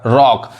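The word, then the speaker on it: rock: जैसे ROC के, देखिए सी के बाद के आ रहा है तो सी साइलेंट होगा। रॉक मतलब क्या होता है, चट्टान।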